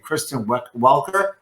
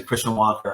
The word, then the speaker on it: Kristen Welker: the last debate is named Kristen Welker, and everyone was pronouncing Christian Walker on TV, freaking me out. They were listening to this slightly gently mispronouncing with like a Canadian accent. It sounds like Christian Walker.